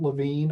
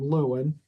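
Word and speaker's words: Lewin: one of my heroes Kurt LaVine although a lot of people pronounce his name Luen ellwin right one of the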